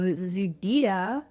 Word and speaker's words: ZEDEDA: I'm Callie Fensel with the Breaking Badness Cybersecurity podcast, and with me is John Donovan of ZEDEDA. Did I pronounce it correctly?